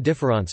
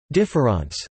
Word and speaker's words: différance: notably in his essay difference and in various interviews collected in positions the of difference as a deliberate misspelling of difference though the two are pronounced identically IPA DFAS difference plays